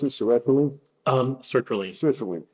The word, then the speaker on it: sertraline: They would stop, get off it, get on the, how do you pronounce it, Seroquel? Sertraline.